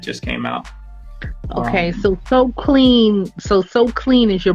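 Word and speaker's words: Soqlean: has a clothing line it's called so clean it's spelled it's kind of spell kind of weird it's s-o-q-l-e-a and l-e-a-n yeah so clean and um through his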